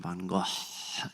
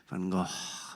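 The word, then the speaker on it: van Gogh: She demonstrates the correct pronunciation of his name, Van Go, in her Israeli accent. Van Go.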